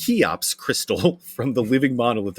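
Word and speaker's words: Cheops: The Ink Master says, "Hey Pat, tell Matt that the Chops, pronounced Kops Crystal from the living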